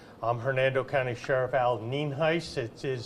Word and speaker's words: Nienhuis: for their records I'm Hernando County Sheriff Al ninis it is spelled n i n hu i s and it is pronounced nen heis um first of all I want to lay